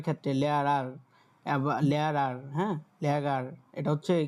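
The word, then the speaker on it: Lehrer: হচ্ছে কি এই যে মাঝখানে যে আরটা থাকে এটা মাঝে মধ্যে ওদের ডয়েসদের স্কিপ করে, মানে এদের উচ্চারণটা আর সরাসরি করে না, আর একটু গলা থেকে এই উচ্চারণটা করে আর কি।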